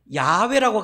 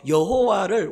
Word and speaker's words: 야훼: 성경에 보면 여호와를 원래 본 발음으로는 야훼예요. 야훼 뭐 여호와 다 같은 단어예요. 우리 한국 사람들이 그 히브리 발음을 잘 못하니까 여호와 이렇게 적어놔서 그렇지 히브리 본 발음에 가까운 단어가 야훼.